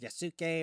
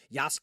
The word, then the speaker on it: Yasuke: with Assassin's Creed Shadows with yasuke or Yas however you want to pronounce it I say yuk uh it's a domino